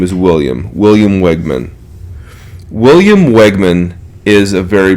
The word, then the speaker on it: Wegman: Wegman. William Wegman, I believe, is how he pronounces it.